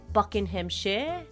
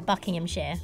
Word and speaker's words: Buckinghamshire: So I say it Buckinghamshire, but I know you say it Buckinghamshire. Yeah, Buckinghamshire. Yeah, see, I got it right. Like Buckingham Palace, but Buckinghamshire.